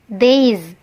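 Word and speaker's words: these: gitu ya Sekali lagi ini batasnya daze ya lidahnya dijulurkan sedikit Days seperti itu ya nah sekali lagi saya kasih tahu jangan sampai dibaca this teman-temannya perbaiki cara baca yang ada disekolah itu salah teman-teman ini yang benar dibacanya daze oke oke ini dibacanya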